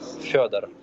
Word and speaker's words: Fedor: It's Fedor.